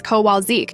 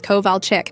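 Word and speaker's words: Kowalczyk: Sara who becomes source instead of Seir Sha but god forbid you say Mrs. Kowalzik instead of Mrs. Koval chick.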